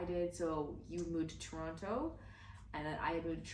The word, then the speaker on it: Toronto: You can see she's not original Toronto. She's not Torontonian. That's why she said Toronto. It's Toronto. Yeah, I pronounce my syllables.